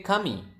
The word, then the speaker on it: kami: Now next, how do you say kami?